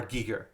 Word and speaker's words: Giger: many times he would he would correct people and be like it's it's HR Giger so I did it